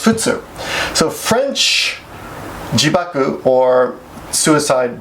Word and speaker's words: 仏: In France's case, it's the Buddha kanji, but it's pronounced futsu.